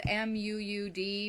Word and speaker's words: Muud: It's spelled M-U-U-D, but it is Danish and it's pronounced Muud. They like their vowels. So kind of stretch out your U a little bit, I guess.